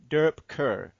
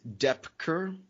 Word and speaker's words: Doepker: I said your name the German way, Doepker. How do you say your name? It's Doepker. Okay. So if you think Johnny Depp and then add a Kerr on there, you got it.